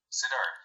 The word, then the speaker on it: Siddharth: Is it Sedarth? Sedarth. Yes. Sedarth. Okay, cool. Got it right.